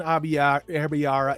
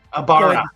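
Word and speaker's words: Aybara: And again, Rand al'Thor, Matt Cawthon, Perrin Abiara, and go ahead and tell me I need to look at the pronunciation guide one more time. Abara.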